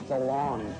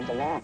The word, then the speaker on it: DeLonge: I am Tom DeLonge, but it should be DeLonge, because I went to France, and they said, you're pronouncing it wrong, I'm all DeLonge. DeLonge. And I was like, yeah, that sounds right.